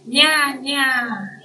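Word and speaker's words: にゃー: Kalau di Jepang ini bacanya nya. A-nya panjang.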